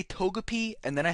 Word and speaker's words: Togepi: for saying toak kiss I'm sorry I say Togepi and then I say totic and toak kiss I pronounced the first one right it's good enough